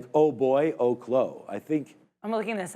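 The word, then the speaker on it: Oklo: I think we'll see if that can hold out for Oaklo. It is Oaklo.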